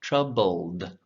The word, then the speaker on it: troubled: so that that tongue the tip is making the l sound and then it rolls right back up to make the d sound troubled so you can practice